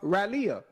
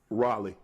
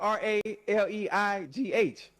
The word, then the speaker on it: Raleigh: I've been to uh Raleia. I've been to Raleigh. Raleia. Oh, okay. Close enough. That's how you say it. How you say it again? Raleigh.